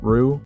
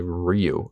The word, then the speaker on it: Ryu: you're talking about but if you want to get closer to the proper pronunciation say Ryu oh Ryu okay you'll learn